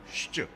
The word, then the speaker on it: ŠČ: They taught us how to say the name of that song. Our mantra, which is shch, like shch, shch, shch, no shch, shch, shch.